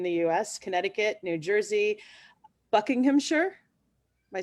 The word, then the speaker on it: Buckinghamshire: So we have New York in the US, Connecticut, New Jersey, Buckinghamshire.